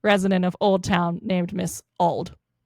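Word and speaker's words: Ald: So, they chose this well-known elderly woman named Mrs. Old, spelled A L D, like old lung sign.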